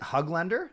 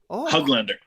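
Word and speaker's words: Höglander: to say from you is that the proper pronunciation is it hug lender like hug yeah hug lender man I've been saying it wrong all the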